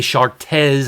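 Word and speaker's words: Chartres: one sculpture from the cathedral de chartez i believe is the way you pronounce it close in france uh in that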